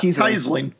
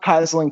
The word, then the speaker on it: Keisling: like Todd keyling yeah Todd keisling not kisling keing oh yeah mik